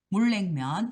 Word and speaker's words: 물냉면: 물냉면이 물냉면 이게 발음할 때 물냉면 이렇게 발음이 돼야 돼.